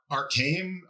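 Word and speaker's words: Arkaim: ancient origins and it's called I'm going to pronounce arcane a r k a i m and apparently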